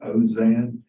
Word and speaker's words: Alzine: We pronounced it a lot of ways. I think his attorney pronounced it Ozan.